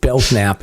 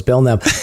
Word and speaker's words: Belknap: anything matter of fact i even said beltnap in the the last episode i got that not only did i say belgnap so it's belknap i got the guy's